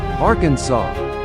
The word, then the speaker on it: Arkansas: The officially accepted pronunciation, Arkansas, reflects the French influence on the word's ending.